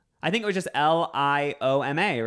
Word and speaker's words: lioma: And then after like the, I think it was just Lioma, right? Yeah, so you got it right, but I'm pretty sure the first time you said Liama. But yeah, you got it right. It's Lioma.